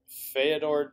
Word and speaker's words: Feodor: Feodor Chin? Very close. Very close. Yeah, okay. Feodor Chin.